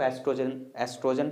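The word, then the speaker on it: estrogen: इसको एस्ट्रोजन pronounce करेंगे, एस्ट्रोजन and progesterone.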